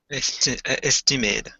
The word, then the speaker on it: estimate: is to guess yeah now there's a there's two pronunciations for this word when it is a verb we say to estimate estimate yeah otherwise it's an estimate mr.